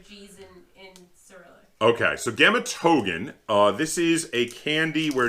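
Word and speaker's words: Гематоген: Gematogen. Gematogen. That really doesn't look like that. It looks like Rematore. Well, no, that's a G. Gematogen. Look like ours are G's in Cyrillic. Okay, so Gematogen, this is a candy where it is chocolate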